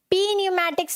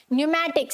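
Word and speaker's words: pneumatics: Then we have न्यूमैटिक्स, क्या है, न्यूमैटिक्स, पी न्यूमैटिक्स नहीं होता, क्या होता है, न्यूमैटिक्स, एन से पहले का पी साइलेंट, फाइन।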